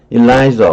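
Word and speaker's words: Eliza: 라고 일라이저, 우린 보통 엘리자로 해석을 하는데 원래 이 발음은 일라이저예요.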